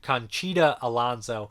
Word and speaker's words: Conchita Alonso: marielle el dondo chicana how do you say her last name i always say her name wrong alonso it's conchita alonso she's great in it